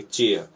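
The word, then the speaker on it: chair: आई आर चेयर वहां केयर नहीं पढ़ेंगे चेयर तो च कब पढ़ाता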